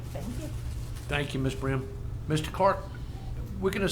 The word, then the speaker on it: Brim: Oh, Brim? yeah. That's right. How do you spell that?